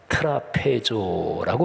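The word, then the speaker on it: τράπεζα: 접대, 그게 헬라어에서 식탁이란 단어가 트라페조라고 발음하는데 그 식탁의 섬김, 원어를 직역하면 그렇습니다.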